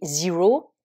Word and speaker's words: zero: en anglais américain c'est Zero à nouveau on l'écrit comme en français sauf avec l'accent évidemment le E là bien sûr on va le prononcer i exemple dans une phrase